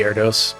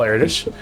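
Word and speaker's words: Erdős: jonathan's erdos number urdos how do you pronounce the name i i butcher it i just say air dose but erdos number eritrea what is it i think is the correct pronunciation so there's a very famous um mathematician paul erdesh raerdos as i usually say and he's kind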